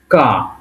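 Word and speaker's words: К: তারপর একটা কি আছে কে, কে কে এর মতো দেখতে, এবং এটাকে রাশিয়ানে বলে কা। এটাকে রাশিয়ানে বলবে কি কা, এবং উচ্চারণটা হবে কয়ের মতো।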